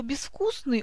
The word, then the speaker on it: безвкусный: А вот слово «безвкусный» у нас является исключением, потому что в приставке мы пишем букву «з», но она у нас обозначает глухой согласный «с». И продолжение этого правила.